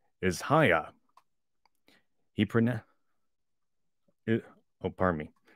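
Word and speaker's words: Haigha: happy his name is hayah he pronoun uh oh parmie his name is heya he pronounced it as to rhyme with maya i love my love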